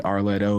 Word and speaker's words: R Letto: It's like a 3 syllable thing, like Beyonce, Arletto.